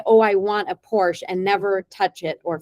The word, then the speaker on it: Porsche: And I said, "I want to drive a Porsche." He said, "First of all, it's Porsche. You need to know that that's how true Porsche enthusiasts, they know how to say the name.